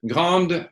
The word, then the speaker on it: grande: So there again, because it's une grande, there's a E there. So even if you don't pronounce the E, we have to hear the D.